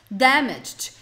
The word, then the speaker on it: damaged: I've just damaged. Eu acabei de estragar. Damaged. Ó, tem um t no final na pronúncia, tá? I've just damaged. Damaged. É um t mesmo no final.